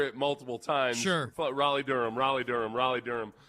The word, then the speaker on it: Raleigh: couple of weekends in Raleigh Durham and not know that not hear the name of the town. It's crazy that it's not Ria.